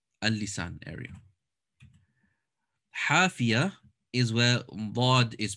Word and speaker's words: ض: So hafat al-lisan, there's dad and lam pronounced from the side of the tongue.